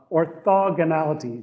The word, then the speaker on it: orthogonality: it uh so uh orthogonality just put the emphasis also on o and everything else works out right so uh anyway so